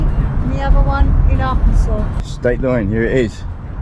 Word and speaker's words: Arkansas: another Stak cross the Big River Bridge to Arkansas if you know why it's pronounced Arkansas and not Aransas let us know